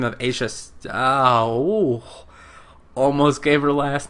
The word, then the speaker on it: Aja: It sounds like Asia, but with more of a ch sound.